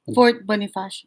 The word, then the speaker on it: Fort Bonifacio: So we get to the gate of Fort Bonifacio, and is that how you pronounce it? Fort Bonifacio.